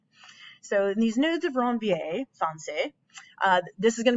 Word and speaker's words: nodes of Ranvier: totally on it because you have to say it like nudes or wrong va so in these nodes of ranvier fiance this is going